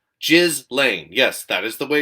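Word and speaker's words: Ghislaine: feds are taking extra precautions to prevent the just lane it's pronounced just lane by the way guys not galen it's french shiz lane jizz lane yes that is the way you're supposed to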